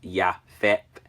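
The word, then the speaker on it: Japheth: 15 in the Strong's and it's pronounced yeah fat okay and it says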